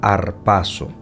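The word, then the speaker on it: ἁρπάζω: palabra en griego es la palabra que se pronuncia harpazo que significa capturar quitar atrapar tomar por fuerza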